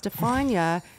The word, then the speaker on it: Stefania: It's Stefania. It rhymes with lasagna.